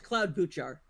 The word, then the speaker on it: Klobuchar: It's Cloud Buchar.